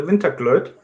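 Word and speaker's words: Vinterglöd: I chose the Winterglöd. I hope I pronounce it right.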